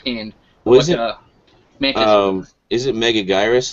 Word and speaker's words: Megaguirus: like a hook hand was um is it mega gyrus like a giant insect megaguirus yes megaguirus everyone say oh how it's pronounced I've been seen in Suzuki mount so